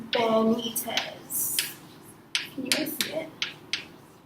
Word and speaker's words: Benitez: Don't forget to share, like, comment, and subscribe to my channel, which is, pronounced Benitez. Can you guys see it? Yeah, Benitez.